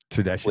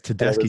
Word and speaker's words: Tedeschi: Rocks with them with Tedesco Trucks. Tedesco Trucks. Oh my god. And Gary Clark Jr. Oh my God. Yeah, it's Tedeschi.